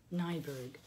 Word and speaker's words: Niebuhr: Reinhold Niebuhr so how you say his name nyberg he is the Protestant theologian but many Catholics